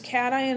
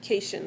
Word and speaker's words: cation: And cation looks like cation, like short for vacation, but it's not.